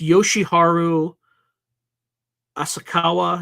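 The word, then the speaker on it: Yoshiharu Asakawa: going to want to make sure that I pronounce this name properly it's so it's Yoshi Haru asakawa he was former General Secretary of the UAP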